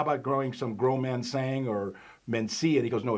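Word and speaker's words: Mencía: It's pronounced Mencia.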